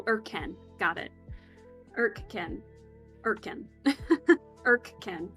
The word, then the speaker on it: Irken: But Irk, like the English word, and Ken, like the name, so Irken, got it.